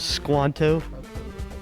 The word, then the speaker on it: Squanto: was not tom is squanto john no steve it rhymes with pronto if that helps toronto no it's squanto